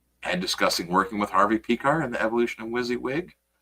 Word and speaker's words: Piskor: Is it Piskor? I always said Pecker. I think they pronounce it Piskor, but I think you probably could say Pecker.